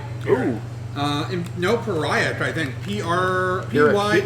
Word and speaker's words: Pyrrhic: So I will offer you a hard bargain or ugly choice, or a pariah victory, apparently. Ooh. No, pariah, I think. Pyrrhic. P-Y. It's pronounced Pyrrhic.